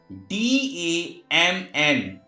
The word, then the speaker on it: damn: It's why N is silent. Next example, CONDEMN. Condemn. Condemn means ninda karna, not condemn. DAMN, dam.